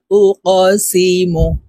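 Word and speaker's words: أُقْسِمُ: তারপরে দেখুন এখানে ওফ এই কফকে ধাক্কা দিয়ে উচ্চারণ করতে হবে কফ কল কলার হরফ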